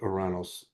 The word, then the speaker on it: Uranus: So now when I come to uh I'm at Uranus now um the Greeks pronounce it Oranos um May the 24th in the year 2027.